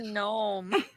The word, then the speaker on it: gnome: heard like me it's called a gnome the g is silent try saying gnome say